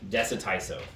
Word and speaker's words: Dessatyso: pronounce it. Dessatyso. Dessatin and Tyson chicken.